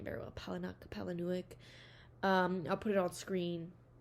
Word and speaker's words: Palahniuk: Palahniuk. I'll put it on screen here. He's one of my favorite authors. I looked it up, and it's Palahniuk.